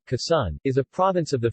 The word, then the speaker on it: Quezon: khaisan tagalog pronunciation kassan is a province of the philippines in the